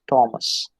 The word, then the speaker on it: Thomas: it's mechanic or mechanics then it is thomas it is i mean her is never there it is thomas then we have anthony